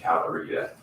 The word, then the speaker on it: Calorita: County Health Department and Calorita, right? Calorie food and prep. can you say that? Spell it. Calorita. CALORITA. Food and Like margarita. It is like margarita.